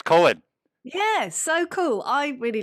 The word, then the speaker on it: COEN: is that how you say it yeah it's cohen yes so cool i really like dream theater